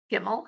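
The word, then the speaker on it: gimel: easy to remember because gimmel sounds like gim me all when you get hey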